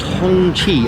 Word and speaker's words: Hongqi: It's pronounced Hongqi.